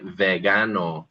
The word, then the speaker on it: vegano: Here's an example of a hard g in Spanish. If we say the word vegan, we'd say vegano.